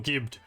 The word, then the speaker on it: gibbed: Jibbed or gibbed. I should be saying it with a hard G.